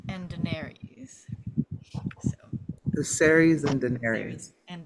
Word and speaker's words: Daenerys: And Viserys and Daenerys.